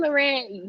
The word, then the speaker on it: La Reine: with with your chest lorenz but loren yes yes lorraine and i know some people have been getting the pronunciation mixed up so let me clarify it